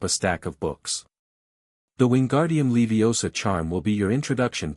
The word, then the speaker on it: Wingardium Leviosa: It's Wingardium Leviosa, make the gar nice and long.